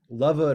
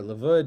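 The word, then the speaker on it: לבוד: But there's another principle, and that's called lavud or lavud, depending on how from you are or how Israeli you are and how you want to pronounce it.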